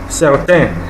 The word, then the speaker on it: certain: Now, certain, which means certain or some, is pronounced as certain. Okay, but that N is not pronounced certain. Not certain, not certain, like you have in English, but the words look alike.